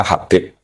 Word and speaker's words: Habib: yang benar Oh gigih yang benar itu bacanya Habib Habib itu Sulami itu